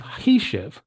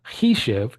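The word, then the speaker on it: חישב: This one is Hishev, which would means he calculated past tense, it calculated past tense. And again, Hishev is different than Hoshev, it's different than Hoshav.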